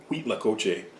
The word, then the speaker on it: Cuitlacoche: an h and they from what i've heard people say it's wheat like like cream of wheat wheat lacoche so uh pardon my